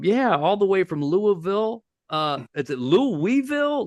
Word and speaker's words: Louisville: well first of all it's Louisville if you could try to get it down to one syllable you're you're you're pronouncing yeah so just L like and then then you're getting close to to getting to getting it right but I I thank